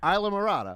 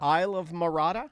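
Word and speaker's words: Islamorada: Isla Marata. Isle of Marata? No, Isla. Isla. Isla Yeah.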